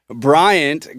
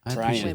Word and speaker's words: Bryant: I like that you specifically pronounced the T at the end of Bryant. Ryan Brian Bryant.